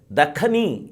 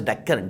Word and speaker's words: Dakhan: That is why Dakhani is a word. It is not Deccan. It is Dakhani. Many people pronounce it as Deccan. Deccan. It is not Deccan. It is Dakhan. Dakhan, Dakhan, Dakshin, Dakhan.